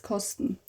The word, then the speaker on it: kosten: Ich werde das jetzt kosten. Kosten. To taste. Kosten. Sten. Kosten.